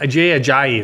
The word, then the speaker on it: Ajayi: it's Jay Ajayi. A JJ. That's what it is.